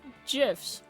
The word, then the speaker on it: GIF: silly internet memes and gifs I just want to be able to make him smile too first lesson it's pronounced memes and GIF with a hard G for it I'm with